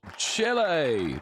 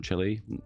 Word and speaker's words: Chile: It's another dev diary, and it's Chile. Chile. In the UK, we call it Chile, but I know Americans say Chile.